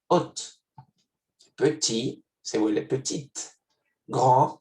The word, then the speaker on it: haute: Alto o no pronuncié la T al final, en femenino se vuelve haute.